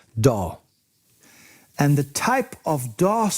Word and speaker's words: DAW: audio workstation or daw usually pronounced as one word doll and the type of